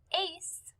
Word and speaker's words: Ace: The name Ace is spelled A-C-E, but we hear S at the end.